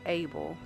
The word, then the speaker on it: AABL: COBRR involved into Afroamericans for black liberation, AABL, pronounced ABLE, a more assertive student-led group that successfully pushed for the establishment of black history courses.